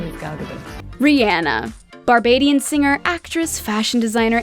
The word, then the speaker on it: Rihanna: to clarify that she is to be addressed as rihanna not rihanna it is rihanna a three-syllable word seemed simple enough back in